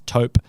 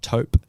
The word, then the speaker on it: taupe: it to you in the american english it's tope yep and in the uk english it is also tope um yeah so just a commonly mispronounced word and we're running with